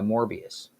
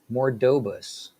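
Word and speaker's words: Marbodus: idea is elaborated by morbius i'm sorry mordobus bishop i've been saying his name wrong this whole time bishop of the ren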